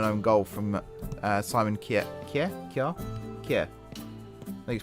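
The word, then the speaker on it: Kjær: Kjaer? I think it's pronounced Kjaer.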